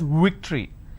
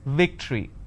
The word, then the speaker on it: victory: They pronounce this as victory. Now remember what I said. If you have the letter V, you need to bite your lower lip. It's victory.